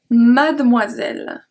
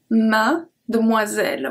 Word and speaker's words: mademoiselle: Numéro 5, almost the same one, mademoiselle. Mademoiselle. We don't pronounce the E in the middle.